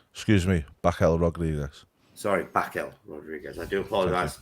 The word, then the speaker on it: Raquel Rodriguez: Sorry, Raquel Rodriguez. I do apologize.